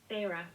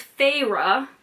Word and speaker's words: Feyre: of a fairy fire how did i decide we were pronouncing her name figure favorite i'm i'm googling pharaoh pharaoh feyre okay okay so it's feyre that makes more sense